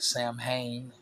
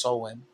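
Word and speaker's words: Samhain: It looks like Sam Hayne. Okay. But it's pronounced sewing.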